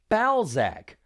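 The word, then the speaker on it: Balzack: their father, the evil Ball Sack. Sorry to interrupt again, but I understand it's probably supposed to be pronounced Bzac, but come on. This guy's name sounds likeing ball sack.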